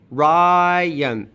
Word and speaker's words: Ryan: All right, so we're going to leave that as a schwa plus an N. Ryan. The y here has moved to the next syllable due to onset greed because y can appear at the beginning of a syllable in English.